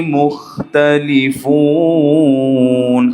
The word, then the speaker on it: مختلفون: খটাকে আমরা অনেক সময় কি করি, মুখ, কেমন যেন একটা বাজে আওয়াজ আসে, তাই না? খ কি পাতলা হবে, খটাকে নরম করে উচ্চারণ করতে হবে।